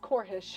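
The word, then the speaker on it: Corphish: Corp fish core hish it's a core hish you see he's in the Drum Corps that's pronounced corish all right so I'm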